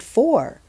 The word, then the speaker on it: four: Next, you can hear the word or sound in the word for, but it is spelled F-O-U-R.